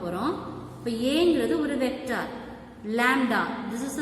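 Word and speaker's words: lambda: இப்போ ஏங்கிறது ஒரு vector, லாம்டா, this is a simple. இந்த சிம்பிளை எப்படி ப்ரொனவுன்ஸ் பண்ணணும், லாம்டா, this is a scalar.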